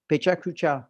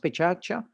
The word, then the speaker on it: Pecha Kucha: i'll leave you now with those two examples pecha kucha it's written pecha kucha but in japanese it's pronounced pichatcha and pechacha means blabla so you have from